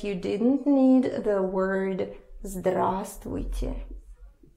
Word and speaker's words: здравствуйте: Just remember that here you for some reason don't pronounce this V.